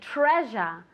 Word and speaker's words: treasure: Treasure. Treasure. Be careful with the pronunciation, okay? Because it's treasure, okay? One more time. Very good. It's not as strong, no es tan fuerte como una SH, no es treasure, pero es un poquito más suave.